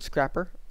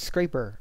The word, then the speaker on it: scraper: Then we got this road scrapper. It's scraper. Pretty sure it's scraper, not scrapper.